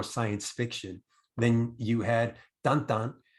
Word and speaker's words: Tintin: Then you had Tantan, right? How it's pronounced, but it's actually spelled Tintin for those who are want to know.